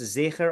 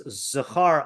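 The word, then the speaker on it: זֵכֶר: the verse Timche es Zecher Amalek, with the letter Zayin pronounced with a Shva and the Kaf with a Ptah. So Timche es Zechar Amalek, okay, which would mean you should kill all of the male Amalekites.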